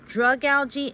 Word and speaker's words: Dragalge: Even so, it says Dragalge, it's Dragalge. Because that's how it's said in the anime. I even looked it up online, how to say it on Google, and Dragalge is how you say it.